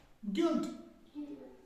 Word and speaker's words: guilty: लेकिन ये जो यू है इसकी आवाज हमने गिल्टी नहीं करना है, हमने पढ़ना है सीधा गिल्टी, GILTY, गिल्टी, सीधे।